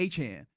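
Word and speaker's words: Achane: Etienne, now in New Orleans, in speaking to the media, and I saw this just this morning, apparently he made it known that the correct pronunciation would be Achan, which Lopez says, we already got one of those.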